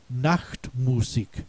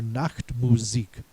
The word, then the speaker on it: Nachtmusik: The next is Nachtmusik or Nachtmusik.